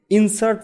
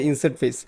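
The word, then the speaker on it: Inset Face: তো আজকে আমরা যে জিনিসটা জানবো সেটা হলো মূলত আমাদের ইনসার্ট ফেসেস। ইনসার্ট ফেস মূলত কি করে, সে ইনসার্ট যেহেতু বলতেছেন ইনসেট বা ইনসার্ট ফেস বলতাম আমি আগে, এখন মানে এটার উচ্চারণটা হবে ইনসেট ফেস।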